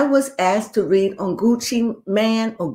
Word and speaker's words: Gucci Mane: So I was asked to read on Gucci Man or Gucci Mane. What's his name? I thought it was Gucci Mane, but I hear people pronounce it Gucci Man.